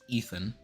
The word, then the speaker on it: Idun: So Loki makes a deal with Thiazi and gives Eden, Idun, sometimes pronounced Ethan, to Thiazi and the